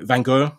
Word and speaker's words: Van Gogh: I think the proper pronunciation is Van Hawk, as they say where he's from, and it's important to